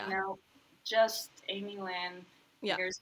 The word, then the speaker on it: Amielynn: And I'm like, no, just Amielynn. Here's how you spell it. And it's Amielynn, not Amy. You can please have that third syllable there.